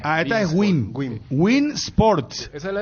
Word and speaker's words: Win Sports: convoque eh Gracias Tomás me está enviando Bin Bin Sports estoy pronunciando bien verdad porque es w w i n bein Bin win win Wi win win wip